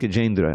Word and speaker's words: Gajendra: And it's pronounced Gajendra.